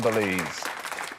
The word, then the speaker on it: Belize: - Cheese and Belize? - It's the only one that rhymes with cheese, isn't it? Is that right? It is. Cheese and Belize.